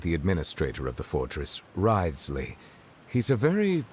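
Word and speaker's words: Wriothesley: I mentioned that I have had personal dealings with the administrator of the fortress, Writhsley. He's a very Writhsley. shrewd fellow. That's how it's pronounced. Yeah, Writhsley.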